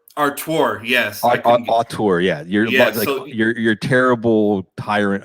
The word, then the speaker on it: auteur: How do you say the word arteurs? ARTEURS. Like basically like most video games are the result. Like it very rarely ever says directed by. Like, right. You mean auteur? Artur, yes. Auteur, yeah.